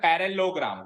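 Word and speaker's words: parallelogram: बट इसमें बट इसमें पर ये ल आई साइलेंट होता है तो उसको ऐसे रीड किया जाता है पैरेललोग्राम क्या रेट करते हैं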